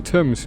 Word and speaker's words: Thames: We are close to the Thames. No wonder flooding is such a risk. Oh, I wonder where that actually takes place. I still remember when Markiplier pronounced Thames as Thames.